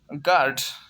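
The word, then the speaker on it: guard: के बाद AE आता है तो यू हमेशा साइलेंट होगा। जैसे गार्ड, यू के बाद AR आ रहा है तो यू जो है साइलेंट है।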